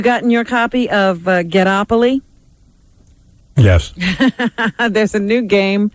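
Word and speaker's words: Ghettopoly: black and minority people it's actually ghetto opaly no it's not ghetto opoly it's get opoli get opoli yes there's no get o opoly it's get opolis how do you spell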